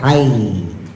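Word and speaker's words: حيّ: laila nahariulijun nahar lailijul hayya minal mayyiti wa tukhrijul mayy minal hay. Nah, itu tulisannya hayyi tapi dibacanya hay ya.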